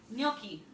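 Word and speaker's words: gnocchi: say the word GN o c CH i milky very good that's how you say it mm-hmm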